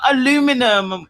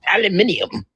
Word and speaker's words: aluminium: Aluminium? No, it's aluminium. Cuz we spell it there's an extra I in there. Alium. Aluminium. No, it's not aluminum. It's aluminium.